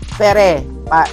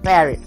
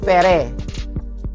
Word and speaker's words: Ferré: And then yung kanyang tawag yun, surname is Ferre. Not Ferre. Not Fier. It's Ferre. F-E-R-R-E.